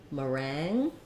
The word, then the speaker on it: meringue: because the first syllable is unstressed you're going to either have an if there a myth rang or a Ma I'm going to write it as ma meringue IPA would be maybe they would use the if their um the avowel and the NG sound meringue um so as in